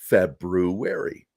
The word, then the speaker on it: February: oh my god yeah you're supposed to pronounce that r it's not a silent r it's an r fabru wary um i raised my